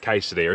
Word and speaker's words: quesadilla: Quesadilla, it's pronounced quesadilla.